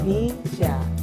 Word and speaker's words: BYSA: Iya, B-nya itu BCA, Ya. Sya-nya Syariah. Jadi bacanya Bisya.